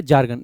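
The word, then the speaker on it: jargon: अगला आपका वर्ड है जार्गन। देखो इसमें आर साइलेंट भी रख सकते हैं, जार्गन बोल सकते हैं, जार्गन बोल सकते हैं।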